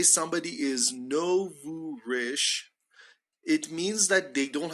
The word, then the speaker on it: nouveau riche: So we say so pay attention to this, they're nouveau riche. They're nouveau riche, okay? He is nouveau riche. She is a bit nouveau riche. The pronunciation is nouveau riche. Nouveau riche.